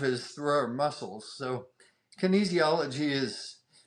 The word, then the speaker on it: kinesiology: is it kenis how do you say it Kinesiology or something I've butchered that kinesiology Kinesiology okay perfect so let explain to the the